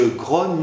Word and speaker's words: grogne: 12,6 lab 1 donc il est important de bien prononcer le e de grogne je grogne mieux malgré moi et pas je crois malgré moi en revanche on ne